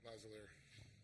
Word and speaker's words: Lazalier: Think lavalier. Lavalier. No, you wear lavalier. Yeah, but think that. Yeah, Lazalier.